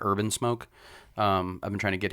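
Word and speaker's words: Herb N Smoke: He owns a food truck called Herb in Smoke, like HERB, N, the letter N, Smoke, pronounced like Urban Smoke.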